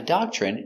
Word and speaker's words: doctrine: Pronunciation doctrine. D. A da c- dock chock ch remember when you have tr together it makes the chicken sound ch.